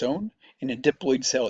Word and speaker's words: diploid: If the DNA is diploloyid, not dloid but diploid is how we pronounce it.